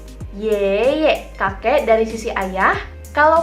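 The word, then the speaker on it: 爷爷: Yang pertama kalau misalnya dari sisi ayah atau sisi papa, kita panggilnya yeye, kakek. Tapi dari sisi papa, yeye, kakek dari sisi papa. Berarti kalau kita panggil papanya papa, yeye. Yeye, kakek dari sisi ayah.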